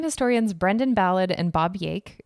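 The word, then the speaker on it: Jaeck: Brendan ballad and Bob yake or Jake sorry for mispronunciation it's j-a-e-c-k so Jake uh or Jake I'll just say Jake whatever uh these two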